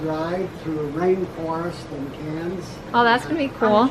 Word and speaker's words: Cairns: To Cairns. Dang it, I always say it wrong. Cairns.